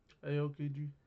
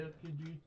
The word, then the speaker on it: Aokiji: Aokiji.